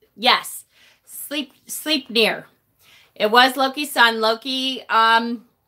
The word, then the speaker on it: Sleipnir: EI spelling is pronounced as A. Oh, okay, so Sleipnir.